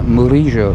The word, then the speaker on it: Murillo: Oh, we're turning right on Murillo, or as it's pronounced here, Murillo.